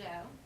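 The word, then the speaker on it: Zhou: tricks people up because it starts with the Z but it's pronounced the Joe so we are on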